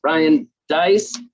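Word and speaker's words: Deiss: nice and speaking of nice rhymes with nice ryan dice gold medal ah that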